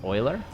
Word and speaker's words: Euler: Euler is pronounced Euler.